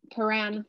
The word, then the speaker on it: Prahran: Yes, Prahran. How do you say it? Prahran, Prahran, Paran.